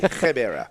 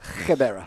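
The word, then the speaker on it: Gqeberha: Gebera. Gebera.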